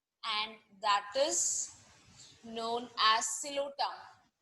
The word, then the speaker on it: Psilotum: Only one living genus is there, and that is known as Psilotum. P is silent again.